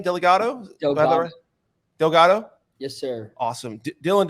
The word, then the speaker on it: Delgatto: Delgatto.